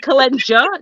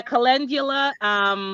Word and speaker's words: calendula: There's no J, lady. There's a D. Right. But yeah, calendula.